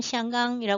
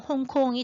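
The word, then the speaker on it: 香港: 한자로 쓰면 향강이라고 써요 그리고 중국어의 보통어 발음으로면 시강이라 부르는데요 그걸 갖다가 광동으로 읽으면 홍콩이 돼요 그래서 지금 우리가 홍콩이라고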